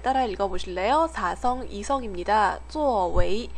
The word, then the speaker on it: 作为: 作为, 웨이가 이성으로 발음되는 거에 주의하세요.